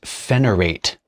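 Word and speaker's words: Phenirat: Next up, I think it's pronounced Phenyrate, even though it does not have an E at the end of it.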